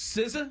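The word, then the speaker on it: SZA: you my dorky pronunciation s z a that's that's how you spell it for sure right but it's not it's siza it's siza all right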